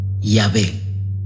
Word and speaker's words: Yahvé: Así se dio lugar al término Yahweh, que en su castellanización pasó a pronunciarse Yahvé, siendo este el término más usado en la doctrina católica.